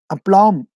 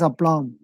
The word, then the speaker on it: aplomb: plumb AP l wu m be a plumb aplomb that be silent there we have to pronounce it that me he used that then only we will he will say that's wrong to be pronounced as a blonde see the print and the synonym of that